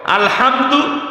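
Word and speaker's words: الحمد: এই যে আলহামদু আরবিতে দুইটা হা আছে একটা হালকা একটা শক্ত আলহামদু শক্ত হা বড় হা মানে সকল প্রশংসা ওই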